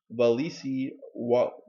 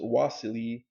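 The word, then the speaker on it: Wassily: For creative, innovative individuals like Beli, Alexander Scriabin, Konstantin Balmont, Max Voloshin, Nikolai Roerich, Valisy, I guess pronounced Wasily Kandinsky, occult philosophy was a lifetime pursuit that impinged on all aspects of their former personal, spiritual, and creative lives.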